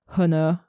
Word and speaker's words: honor: kill me for my honor honor and whatever why is the H in honor not pronounced is it pronounced because English is stupid English is weird now we move to